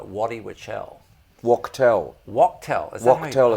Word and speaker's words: Wachtel: Is Wachtel, it's pronounced.